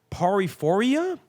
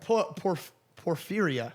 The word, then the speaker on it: Porphyria: Apparently, it's because Charles' bloodline were known to have the disease paraphoria. Am I pronouncing that correctly? Paraphoria? Paranoia. Porphyria. Porphyria. Porphyria.